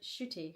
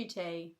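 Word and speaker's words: Ncuti: I thought I do I do say shooty. I say shooty, don't I? Shooty. Shooty Gatwa. But I suppose cuz I say it quite quickly, it does sound like I'm saying shitty. I get I guess it's my London accent.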